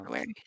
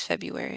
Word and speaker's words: February: February. Yeah. Are you making fun of how I say February? No, I just decided to pronounce the R in it.